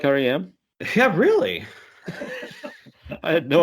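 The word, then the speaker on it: R.E.M.: out really you like RM yeah really I had no idea actually I used to pronounce it REM though because I don't understand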